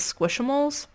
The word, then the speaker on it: Squishmallows: squish mole squishamales or squishmallows this word right here i want to pronounce it squish mallow because that's how it's spelled but everyone says squishamoles do extremely well in